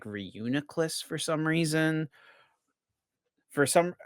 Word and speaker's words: Reuniclus: I'm pretty sure there's a Reuniclus in Uh I'm It's actually I'm I've realized I'm saying that Pokémon's name wrong, by the way. It's Reuniclus. Reuniclus.